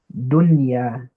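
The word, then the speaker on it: دنيا: So yeah, if you noticed, dunya, dunya. I don't say dunya. I don't do idgham here. I don't say dunya, sunwan. No, I pronounce it clearly and normally.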